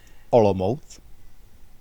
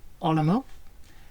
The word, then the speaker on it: Olomouc: And the name of the town, I'm going to get Tomáš to pronounce. Olomouc. Olomouc.